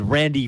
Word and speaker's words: Randy: It was Randy Fund. It wasn't a Oh, Phil, Pafund. F-U-N-D. but there was a F in there. Yeah. Randy Fund.